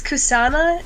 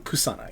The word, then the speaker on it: Kusana: who i'm still trying to talk um it's kusana is how you pronounce her name kusana yeah k-u-s-a-n-a i believe great i believe because